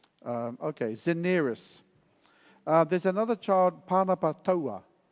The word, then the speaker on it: Daenerys: Daenerys. Okay, Zeneris. There's another child, Panapatoa. How do you spell it?